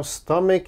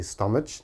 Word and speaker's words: stomach: often mispronounce same problem there's a CH so they say stomach oh please don't say stomach never say that it is always stomach stomach strong k sound here stomach all right and